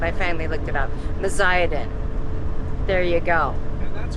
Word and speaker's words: Meziadin: It's the bear campground, but we never figured out how to pronounce that, and I finally looked it up. Meziadin.